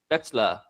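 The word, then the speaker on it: Spätzle: He drove a few hours to our place and he showed us how to make a dish called uh Spetszla. This is spelled sp auml uh ztl eetsla.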